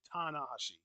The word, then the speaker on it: Tanahashi: because we know like we always say Tanashi but in Japan they say tanahashi yeah I don't know